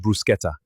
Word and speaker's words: bruschetta: It is pronounced bruschetta.